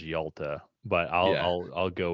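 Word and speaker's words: Hjalte: talking about it's y I do not see how that is pronounced as Yalta but I'll I'll I'll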